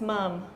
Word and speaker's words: ma'am: how you spell ma'am it's a strange way they pronounce this mum like mother I don't know why